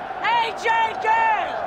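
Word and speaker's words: Ajay Ghale: AJ Gale!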